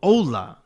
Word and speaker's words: OHHLA: An old site called Ohhla, if you pronounced it phonetically like the way it sounded.